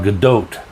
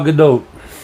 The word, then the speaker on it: Gadot: She pronounces it Gal Gadot. So the long O. So Gal Gadot.